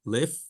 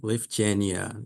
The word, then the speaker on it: Lyfgenia: And so the pronunciation, pretty straightforward, Lyfgenia, right? Lyfgenia. And so, practice it a little bit.